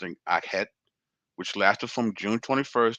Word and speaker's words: Akhet: The seasons of the Egyptians corresponded with the cycles of the Nile and were known as inundation, pronounced in Akhet, which lasted from June 21st to October 21st,